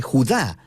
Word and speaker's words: Judá: La carta de Judas, o más precisamente Judá, de acuerdo con la pronunciación de su nombre tanto en griego como en hebreo.